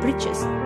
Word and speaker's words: breeches: He was wearing trousers, a cut short at the knee, these kind of clothes used in olden days called breeches, which rhymes with the word witches, and a woolen shirt and a tall hat with mustache, which looks like a witch.